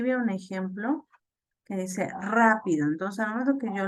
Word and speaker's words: rápido: Aquí veo un ejemplo que dice rápido. Entonces, al momento que yo lo pronuncio, puedo notar muy rápidamente que, que en la A de la palabra rápido hay mayor fuerza en esa vocal y en esa sílaba.